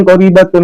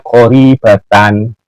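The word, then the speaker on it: قَرِيبَةً: Bukan qaribatun Gus Hasan, tetapi itu bacanya qaribatan. Di depan itu ada karena pengamalannya tarfa'ul ismah wa tansibul khabar. Jadi bacanya wa in kanat qaribatan. Yang keempat, kesalahan dari Gus Hasan, wa innahu la ba'udah.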